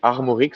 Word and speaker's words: Armorik: Armorik in French you say Armorik, so really all the air and so. But it depends on all your accents or so. It can be everything.